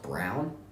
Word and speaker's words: Braun: good wait a minute the last thing is pronounced Brown nah I mean he's